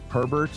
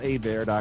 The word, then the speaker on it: Hebert: spell it out because a lot of people think my last name is Herbert or Ebert but it's spelled like that but it's a bear calm heb e